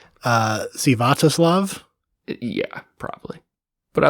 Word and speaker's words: Sviatoslav: His name's Stanislav Richter. I think that it's actually, it looks like it's pronounced Sviatoslav.